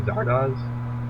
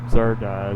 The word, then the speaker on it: Zardoz: ever seen Zardoz?